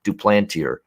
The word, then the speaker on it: Duplantier: uh brett anderson duplantier actually he's he's not french he's not french-canadian uh so you gotta pronounce it the english way do plantier uh for him on